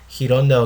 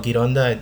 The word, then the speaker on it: Gironda: You do say it Gironda or Gironda, it's the same thing, but I'm using an American pronunciation or Western pronunciation.